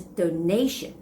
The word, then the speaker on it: donation: And another word is the noun form, which is donation. Donation. The stress goes on the second syllable.